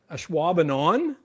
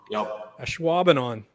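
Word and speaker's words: Ashwaubenon: get one okay well how do you say it there that's why a schwabenon a schwabenon okay perfect what's the second one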